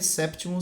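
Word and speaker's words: septimus: sexos sexta Sexton sétimo também tem que pronunciar o p séptimo séptima caption 8º octavos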